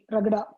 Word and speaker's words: Ragada: Spell it, please. Ragada, எப்படி spell பண்ணுவீங்க? RAGADA, Ragada.